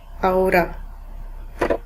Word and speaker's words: ahora: Remember, H is silent in Spanish. Ahora.